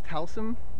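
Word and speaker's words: Taslim: um but Joe um I think it's talum is how you pronounce his last name uh played one of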